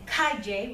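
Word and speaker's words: calle: It's like the Y sound in the English million, Y sound, yeah?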